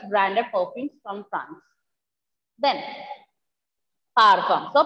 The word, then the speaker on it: parfum: Then, parfum. So, perfume is pronounced as parfum.